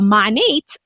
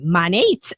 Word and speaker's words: MONAT: in charlotte north carolina and now she's a monet uh market partner so that's what she does at monat i have to say it right but it's